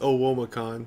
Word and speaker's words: OWOmacon: if we could get the official word on pronunciation uh it's oh womacon because we're all omaha so it's like right